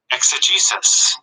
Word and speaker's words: exegesis: e x e i don't know how to pronounce it though the gay says e-x-e-g-e-s-i-s let's find out because i need to know